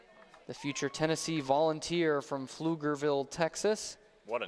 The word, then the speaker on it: Pflugerville: call for a strike tricky silent P at the beginning of it Pflugerville one of those nice